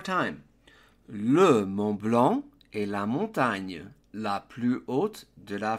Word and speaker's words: la montagne: The gn in French is a little bit tricky. Simply pronounce it as knee, like your knee in English, and then the final e is going to be an sound, hence the pronunciation la montagne.